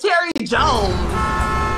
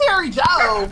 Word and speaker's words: Terri Joe: job he's talking about what is Terry Jones you hear me saying Terry Joe like why would you